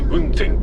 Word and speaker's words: 温泉: 1920 年大正 9 年、温泉と書いて雲仙軽便鉄道が設立。